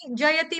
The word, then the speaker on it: जयति: अच्छा चलो देखो देखो जयति तेधिक जयति में ती जो है ह्रस्व है। य का उच्चारण स्पष्ट रूप से होना चाहिए।